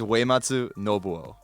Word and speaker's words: Uematsu Nobuo: Uematsu. Yeah. It's like way, like WE for like UE. It's way. Way. Pronounce Yeah. it like Keanu Reeves in Yeah. Bill and Ted.